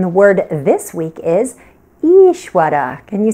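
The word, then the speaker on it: Īśvara: word this week is Ishwara can you say that each Wetty so what you want to do is hold that first vowel for two beats to matras right because it's a long e so the sound is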